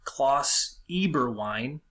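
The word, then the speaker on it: Klaus Eberwein: the reply to this points this guy named cloths Eber wine that's how you say his name a person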